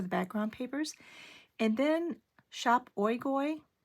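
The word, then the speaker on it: Shop Oigoi: And then Shop Oigoy, s h o p o i g o i, and I did ask them if that is the correct pronunciation, and it is.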